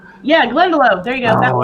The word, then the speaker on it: Glendalough: The Glendalough? Yeah, Glendalough.